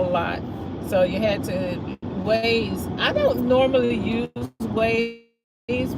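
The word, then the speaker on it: Waze: So, you had to ways.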